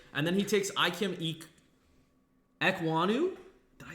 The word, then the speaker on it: Ekwonu: And then he takes Ikem Ekwonu. Did I say it right? Ekwonu, yep.